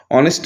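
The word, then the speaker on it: honest: mister Das is dash অনেস্ট businessman হবে অ্যান অনেস্ট businessman H এখানে silent তাই এন হবে এরপরে থ্রি আই তে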